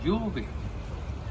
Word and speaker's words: Jorvik: And in their heavenly accent, they pronounced it Jorvik.